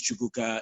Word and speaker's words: Chukuka: Like, my name is Chukuka. It's only 3 syllables. If you can say Jennifer, you can say Chukuka.